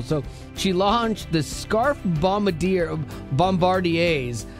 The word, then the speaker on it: Bombardiers: So she launched the Scarf Bombardiers. It's French. It's hard to... Whoa. Yeah, Bombardier. Bombardier. But it's spelled I-E-R-S at the end. It's confusing.